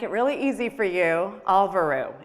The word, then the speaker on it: Alvöru: really easy for you, Alvöru. It's very easy to pronounce, and it's actually an Icelandic word. And if you really want to hear it in the accent, just go to Google Translate.